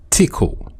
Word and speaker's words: Tcl: abbreviated to TCL and commonly pronounced as tickle so it was developed